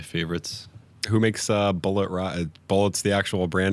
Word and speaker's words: Bulleit: Bullet's the actual brand name on there? Yeah, it's Bulleit. Oh, Bullier. It's pronounced Bullet.